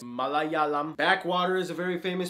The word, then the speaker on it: Malayalam: Say it with me. Malayalam. It's not Malayam or Malayam. It's Malayalam.